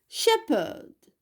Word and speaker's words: shepherd: shepherd, shepherd, PH تلفظ ب. shepherd, راعي.